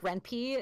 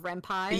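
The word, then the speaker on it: 恋愛: all the time and even mispronounce words in programs things like reny instead of renai yes um yeah it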